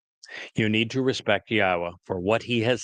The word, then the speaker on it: Yahowah: Al Benim Yahwa which is the proper pronunciation of the name of our Eloha God as directed by his Torah teaching regarding his haya existence.